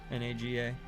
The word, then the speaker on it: Naga: N A G- A. Naga, I suppose, is a better pronunciation.